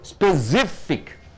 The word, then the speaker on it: specific: So specific. SIF should be stressed.